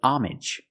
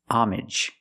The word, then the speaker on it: homage: or is it homage this word has two pronunciations if you see it after the word pay usually it's pay homage where the H is silent and the AG is pronounced normally like message and package homage you pay homage